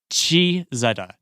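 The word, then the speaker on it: Cizeta: familiar with that car that's spelled c i z e t that's another car from the vector era Zetta Chi Zetta CH Zetta yes so it's what five letters three three cables three yeah three syllables c i z e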